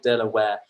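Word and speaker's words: De La Warr: the pronunciation of this what is is the de la ward delaware apparently it's delaware billion so it's a tall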